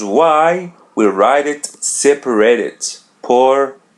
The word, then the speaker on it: por: Poor. Poor. Yeah, there's a letter R in the end. We pronounce it as R in English.